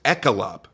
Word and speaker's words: ECILOP: butcher it up but it showed the pronunciation is echelop worry at the it was a hard sea instead of a soft seat so however you'd like